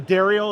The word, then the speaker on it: Darriel: it Daryl or Dariel it's uh Dariel if you're a French woman is Daryl for everybody else so this is Dariel no Daryl cast how are you